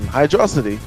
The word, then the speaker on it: Hydrocity: As the same thing for Tails, like saying the same thing with Hydro City or Hydrocity, where You said it right the first time.